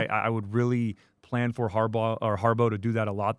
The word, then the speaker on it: Harbaugh: I want us to get some sacks on Harbaugh or on Brosmer this week.